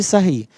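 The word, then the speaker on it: Sarrus: Essa regra é conhecida como regra de Sarros, ou regra de Sarri, tá?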